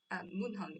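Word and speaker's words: 문헌: actually rose, because we also use the word wenshan, that is munhon in Korean pronunciation, but it only refers to documents and publication, usually in library.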